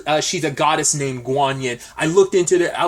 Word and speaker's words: Guanyin: she's a goddess named guanyin I looked into it I was like looking at I was like is that how you pronounce it that is like